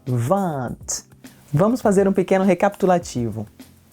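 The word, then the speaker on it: vingt: O G, podem perceber, a gente não pronuncia e o T final é pronunciado. Então a gente vai dizer 20.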